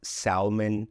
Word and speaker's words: salmon: So the L here is silent. Don't ask me why. English doesn't always make sense, but this word is definitely not salmon, but it's pronounced salmon, guys.